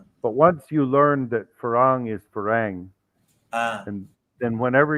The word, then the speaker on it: farang: the white foreigner but sometimes all foreigners is farang yes and the thai word for farang if you were to spell it in english letters would be spelled f-a-r-a-n-g